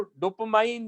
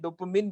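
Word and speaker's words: dopamine: तो उसको डोपामाइन बोलते हैं, डोपामिन बोलते हैं, अलग अलग प्रोनाउंसिएशन है।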